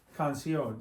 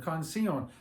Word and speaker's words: canción: The accent goes on the O. What happens if you put it on the I? It'd be canción. Like the word for uncle, tío, tia for aunt. There's an accent on the I, right? It breaks up the I and the O and makes two separate vowel sounds. Two vowels. But I-O, one vowel sound.